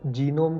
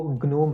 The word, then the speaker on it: GNOME: कि मैं बार बार जीनोम को ग्नोम ग्नोम क्यों प्रोनाउंस कर रहा हूँ। तो दोस्तों मैं आपको क्लैरिफाई करना चाहता हूँ कि GNOME का जो प्रोनाउंसिएशन है वो ग्नोम है, जीनोम नहीं है।